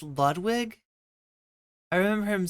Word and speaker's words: Ludwig: Pronounce Ludwig like an American kid would? Wait, how did it... Ludwig? It's really like just Ludwig?